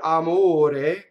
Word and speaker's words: amore: Now, the word amore in the South, in certain dialects like Neapolitan, does indeed have a double M. Amore. Right? In the Neapolitan. Right? But not in Northern Italian, the standard Italian for singing opera. It's a single M.